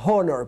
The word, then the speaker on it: honor: No diga honor, please.